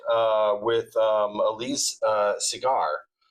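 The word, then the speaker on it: Segar: you pronounce his name, he would draw a little cigar on top of his uh signature so you would know that that's how you pronounced it.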